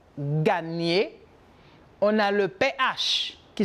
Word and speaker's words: gagner: On a le N, como la ñ en espagnol, gagner.